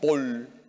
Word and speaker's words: Paul: hay mucha ignorancia religiosa san vicente de paúl aunque se pronuncia paul en francés quien murió el año